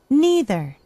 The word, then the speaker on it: neither: neither, neither 이렇게 발음을 했고요. 영국 발음 그럼 응용해 보세요. E를 I로 바꾸고 R 생략하면 어떻게 되죠? Neither.